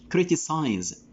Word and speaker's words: criticize: a verb and here the effect of ize is changing the world pronunciation the last letter the last consonant critic here ket sound change into it into say sound critic criticize and critic this is